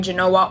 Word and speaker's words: Genoa: So today we were in Genoa, or Genova, however you prefer to pronounce it.